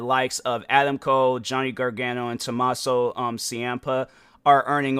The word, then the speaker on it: Gargano: Let me just make sure I'm pronouncing it right. Johnny Gargano, like that.